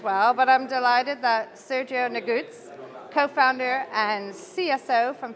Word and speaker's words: Sergiu: day ahead as well but I'm delighted that Sergio nagutz co-founder and CSO from fintechos has taken a little time out of his schedule to chat to me hello Sergio very purposefully thank you very much for uh